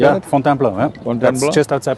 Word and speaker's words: Fontainebleau: Fontainebleau, yeah.